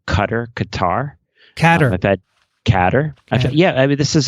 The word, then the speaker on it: Qatar: How do you pronounce Qatar? Catter. I've had Catter. This is actually so. Are we going to go with Catter?